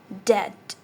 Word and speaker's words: debt: Debt. B is silent.